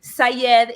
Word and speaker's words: Saied: So Shamile is an Arabic name pronounced with an Argentine accent. We say the Y like an SH. And then Sayed is my maiden name, which is Arabic.